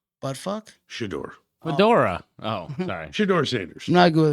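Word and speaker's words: Shedeur: His name is it rhymes with Hodor. Buttfuck? Shador.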